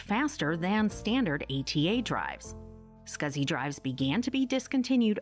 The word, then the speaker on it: SCSI: Small computer system interface, pronounced SCSI hard drives, joined the storage market in 1986.